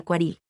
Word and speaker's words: Quarel: De hecho, la R de Quarel se pronunciaba de la manera francesa, y haciendo que su pronunciación más correcta sea Quaril.